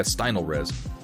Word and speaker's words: Stynylrez: picked up the smallest size they had from Stynylrez. Is that how you pronounce it? Stynylrez. Yeah, Stynylrez.